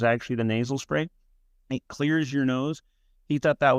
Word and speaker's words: Xlear: Clear clear. That was something my dad wanted. It clears your nose. That was what our our first product was actually the nasal spray. It clears your nose.